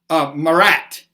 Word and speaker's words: Marat: And this guy started, his name was John Paul, I want to pronounce this, Marat, M-A-R-A-T, Marat.